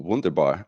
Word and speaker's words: Wunderbaer: So in that spirit, I would like to introduce you to Wunderbaer. Am I pronouncing that right?